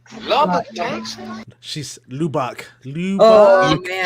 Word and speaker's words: Lubbock: Lubbock, Texas? Like Shanice was a little behind, but right. I didn't know how to say Lubbock. Lubbock, Texas.